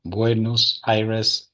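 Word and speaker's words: Buenos Aires: It's Buenos Cyrus, the university, most important university here in Argentina. Buenos Iris is the pronunciation.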